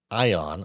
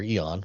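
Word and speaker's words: aion: This is a comparison of the Greek word it's a different translation of the Greek word ion or eon whichever way you want to pronounce that era.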